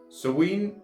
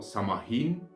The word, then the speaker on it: Samhain: Now, Samhain or Samahin, depending on your pronunciation, is celebrated in the